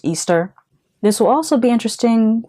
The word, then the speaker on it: Ishtar: Also, if you know the mythology behind Lilith/Ishtar, which is actually pronounced Easter.